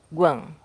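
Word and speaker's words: 觀: E o caractere todo pronuncia-se Guan, que significa certo tipo de observação, uma certa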